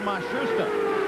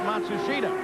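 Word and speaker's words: Matsushita: They've changed the pronunciation again. They've given it to us four or five different ways. Now it seems that they have settled on Mashusta. They started the year with Matsushida, but he is the Japanese driver.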